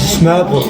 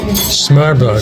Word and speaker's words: smørrebrød: One more time on the how you pronounce this. This is a tata. But the actual the open-face sandwich. Smørrebrød. Smørrebrød. Smørrebrød.